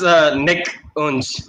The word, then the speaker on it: Nikunj: I'm trying to pronounce his name. it's simple as Nikunj. That's it.